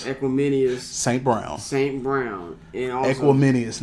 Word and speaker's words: Equanimeous: With Darnell Mooney, with Byron Pringle, with how you pronounce folks' name? Equanimeous.